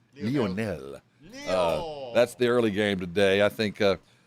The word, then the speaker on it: Lionel: See, I say it right. Lionel.